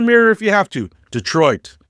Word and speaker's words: Detroit: Detroit, not Dee-troit. Squish it together, make it lazy, make it sound like you've been saying it your whole life while drinking Vernors and calling it pop.